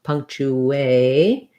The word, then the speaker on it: punctuation: So thinking about it like punk, it's just the same as the word punk, but remember that that has an NG sound, punk. And then chew, like the word chew, or you can think about it like chew if that's easier, punctu. And because I'm going from the oo rounded to the A, there's a little bit of a ooh, so putting the W in there is helpful.